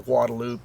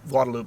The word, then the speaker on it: Guadalupe: Um, in terms of the rivers, the Komale, the Guadaloop, and yeah, Guadaloop, Guadalupe, we're from Texas. We pronounce things our own way.